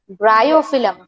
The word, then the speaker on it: Bryophyllum: Plants such as Bryophyllum. Pronunciation is bryophyllum.